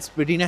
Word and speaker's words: Spadina: Well is that why it's called Spedina House but then at the same time everywhere else calls it Spadina.